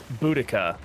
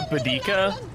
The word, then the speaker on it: Boudica: Berryman how's it going yeah it's it's boudica it's like look it up I was calling her badika and then I saw